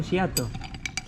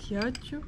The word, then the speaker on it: Ghiaccio: Giato. Ghiaccio.